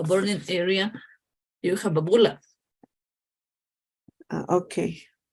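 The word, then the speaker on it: bulla: So it's like pronounced like just bula? Yes. When you have bula like E like this, it's just the difference with this is British English and this is American English. Okay. So Okay. just one vowel is the difference, but the pronunciation is the same.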